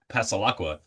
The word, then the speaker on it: Passalacqua: I like explaining it because when you hear it, Passalacqua, and then you see it, it kind of phonetically makes sense.